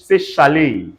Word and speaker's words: chalet: Say chalet.